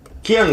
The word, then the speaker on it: Ki-Young: Ki-Young, is that how you say your name? Or is it Kang?